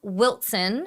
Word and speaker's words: Wilson: My dad is from Wilson. So, W I L S O N, but you pronounce it with a T. It's the southern way.